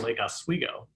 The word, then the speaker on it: Lake Oswego: There's only one thing I feel like we can teach to you, and that is that we pronounce it Lake Oswego.